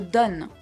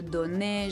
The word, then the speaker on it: donne: I said je donne. I stopped at the N sound. I didn't say je donnais, je donnu, or what.